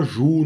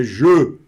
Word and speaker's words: je: Você não vai falar ju, não vai falar já, não vai falar jó. É je, tá certo?